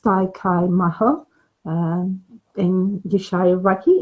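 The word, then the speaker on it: Dai Ko Myo: Pronounced Dai Kai Maho in Yushai Reiki, it's known as the master symbol.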